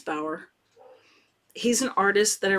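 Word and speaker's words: Bauer: it's a John and I don't know if if you say his name Bower or bow bar b a u e r I think it's Bower he's an artist that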